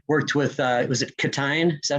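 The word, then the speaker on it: Ctein: co-writers how you worked with uh was it catin is that how you say his name yes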